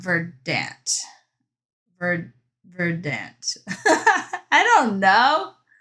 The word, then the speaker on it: Verdant: Verdant. I don't know. Emphasize on first syllable, not second syllable.